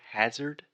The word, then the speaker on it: hazard: something like that so that first sound is the AH just like dad master disaster so the correct pronunciation